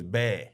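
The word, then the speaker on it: 배: So Bae means pear in Korean. Easy. And we're sitting with Sumin going, how do you say pear in Korean? She goes, bear. And I'm like, Bae Juice. Has to work. She's like, why not? It's perfect. B-A-E. And I'm like, okay. And she's like, yeah, so we say bear, like Bae.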